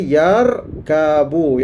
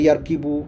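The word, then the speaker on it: يركب: itu kekallah yarkabu yarkabu dia tak bolehubah kepada yarkibu tak boleh ubah yarkubu mesti baca dengan yarkab yarkabu untuk memberi makna tunggang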